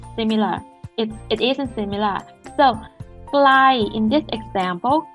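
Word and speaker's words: ไกล: So glai in this example, glai means far, low, mid tone.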